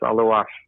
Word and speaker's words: Aluas: Aluas. A-L-U. Am I pronouncing that right? I've been pronouncing your name, but Aluas, is that correct, or is it Aluas? No, it's Aluas.